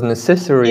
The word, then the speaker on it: necessary: The stress is on N, but for 10 years I was putting the stress on this part.